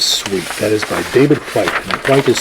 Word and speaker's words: Whyte: That is by David Whyte, and Whyte is spelled W-H-Y-T-E.